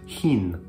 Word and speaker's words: Húrin: making unaware readers that the correct pronunciation should be as in the German Bach, rather than the more common CH in English, chin.